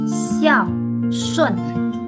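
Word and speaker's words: 孝顺: Dan xiao shun. Xiao shun. Oke, kita lihat dulu pinginnya. Pinginnya SHUN, bacanya bukan sun, tapi UN dalam Mandarin dibaca UN. Jadi SHUN, shun, xiao shun, artinya berbakti.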